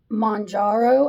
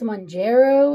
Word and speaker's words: Mounjaro: to whoever did my the way I said was saying Monaro I think it's mongero is the way and I'm sorry because